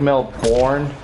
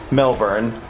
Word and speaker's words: Melbourne: in Australia called Melbourne it looks like Mel born but the fact is it's pronounced Melbourne em e lb o u R and E Melbourne Australia do you think